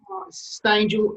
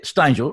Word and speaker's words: Stangel: Stangel is the way I'd say, but yeah, Stangel rhymes with angel, so it's nice.